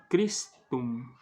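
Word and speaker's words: Christum: consoante ium ium Yum crum então ch no crum tem som de k e o u no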